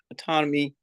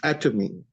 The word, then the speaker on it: Atomy: being part of the autonomy how do you Pro pronounce that that's atomy a t o m atomy at yeah all right